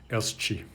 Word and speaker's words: elski: It is not pronounced ska, but as either a fricative sh, or depending on dialect area in the Faroes, as I understand it, can be pronounced as a fricative plus affricate sh, elski. So some interesting changes, and